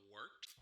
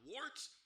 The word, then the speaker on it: Wort: It is the Wort, not Wart, not Fort, not Short, the Wort.